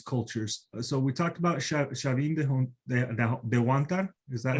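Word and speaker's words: Chavín de Huántar: So we talked about Chavin de Huantar. Is that how you pronounce it? Okay. Yep. Chavin de Huantar.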